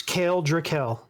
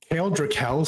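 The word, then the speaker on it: Kael Drakkel: giant v this giant Kingdom where TX yep krael I've I've heard draal yeah it's kale drael kale drael sounds so much cooler yeah ites so you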